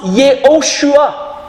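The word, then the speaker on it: Yehoshua: Nous voyons qu'en hébreu, Josué se prononce Yoshua qui veut dire l'Éternel est sauveur.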